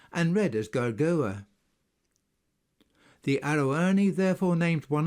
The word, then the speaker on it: Gergovia: and the fact that the V in Gergovia should be pronounced as a U and read as Gargoa.